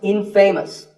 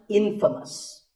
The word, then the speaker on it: infamous: But it's not pronounced infamous. It's pronounced infamous.